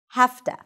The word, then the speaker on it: have to: So to wrap it up, have to is pronounced as have to.